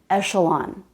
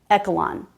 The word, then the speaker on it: echelon: This word is echelon, not echelon. But echelon was a good guess because the CH can be pronounced k or ch or sh. In this case, it's the sh sound, not the k sound.